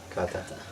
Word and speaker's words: Kata: that's the same yes how how do you pronounce the name of the band Kata Kata